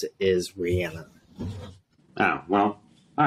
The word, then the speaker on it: Rihanna: halftime show they're her actual name how you pronounce it is Rihanna oh well all right Rihanna yeah whatever yeah